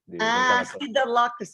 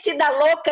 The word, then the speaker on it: Siddha Loka: Siddha Loka, tá. Que eu entendi Siddha Louca, e por isso que eu não entendi.